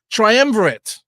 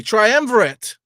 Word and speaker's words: triumvirate: I get the pronunciation triumverate excuse me triumvirate it's triumvirate so we're going to use